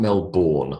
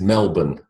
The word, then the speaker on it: Melbourne: and Melbourne Melbourne is is not Melbourne like the born identity the born legacy the born God knows what it is Melbourne BN all right so you